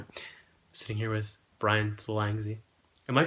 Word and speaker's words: Thalangsy: I'm sitting here with Bryan Thalangsy. Am I pronouncing that right, by the way? Thalangsy?